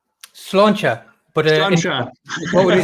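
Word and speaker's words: Sláinte: Slangt? Slancha.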